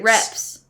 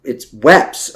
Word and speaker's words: Weps: Oh, her name is Petty Officer Weps. Weps? Weps. Oh, wait. Weps? No. Cora Weps Rakes. Reps. It was an R. No, we had subtitles on. No, it's Weps, according to this.